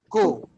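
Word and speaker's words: cu: Q. Q. Yep. Q. Yep. Like the coo of a bird, but now we don't extend it. We don't go coo. We go Q. Nice and short.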